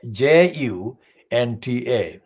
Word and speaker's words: junta: the military hunter now the military junta is spelled j-u-n-t-a junta many people used to the english text misread and confuse it this is not an english word it's a word from the latin american kind of context sorry let